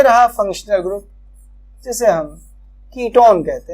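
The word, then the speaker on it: ketone: यदि इसका सफिक्स लिखें तो इसका सफिक्स होता है ONE, पर वन नहीं, ऑन प्रोनाउंस करते हैं, कीटोन, नॉट कीट वन, ऐसे नहीं, कीटोन। तो कीटोन प्रोनाउंस करेंगे ONE को ऑन।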